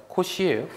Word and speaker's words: 코시: 코 4 아닙니다. 코시예요. 코시 코사라고 했어요.